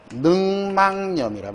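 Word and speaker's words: 늑막염: 자, 다음에 여기 보시면은 능막에서 이미 여기 미음이 기억을 가만두지 않죠, 그죠? 발음 과정이든 표기든 상관이 없어요. 여기서 이미 하나 바뀝니다. 능막 이렇게. 그리고 여기 종성이 있으니까 여기 조건상 니은 첨가가 되겠죠? 그지? 그리고 이 첨가된 니은이 가만히 두지 않으니까 어떻게 된다? 종국의 발음이 능망염이란 말이야. 능망염 이렇게 최종 발음이.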